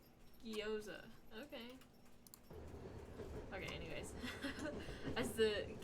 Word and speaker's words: gyoza: Pronunciation. Gyoza.